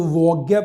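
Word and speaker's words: Waage: इसको वोग्या पढ़ते हैं, पेट्रो वोग्या, नॉर्वेजियन प्रोनाउंसिएशन के अंदर।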